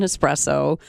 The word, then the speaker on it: espresso: We always have to try to gently gently remind people there is no X in espresso. Please pronounce it correctly so we can help train you.